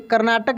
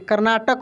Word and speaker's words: कर्नाटक: देखेंगे जानते हैं, कर्नाटक, ऐसे कर्नाटक होगा, ना कि कर्नाटका। देखिए ए लगा है लेकिन ए का प्रोनाउंसिएशन यहाँ पे नहीं हो रहा है।